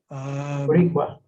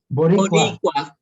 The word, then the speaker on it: Boricua: Boricua, which I hope anyone will help me pronounce. Boricua. Say it again? Boricua.